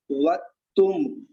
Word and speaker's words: वक्तुं: बिंदी रखी हुई है, तो इसका उच्चारण होगा वक्तुम वक्तुम वक्तुम। वक्तुम में मैंने होठ बंद कर लिया यानी कि बकरी वाला वा को बोला, इसमें बकरी वाला वा नहीं, इसमें वन वाला वा बनेगा।